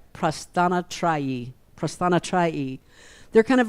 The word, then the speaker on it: Prasthanatrayi: They are part of the Prasthanayatra. Let me say it right. Prasthanatrayi.